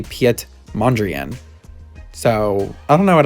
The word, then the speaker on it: Mondrian: i'm very upset because it turns out that he is dutch not french and it's actually piet mondrian so i don't know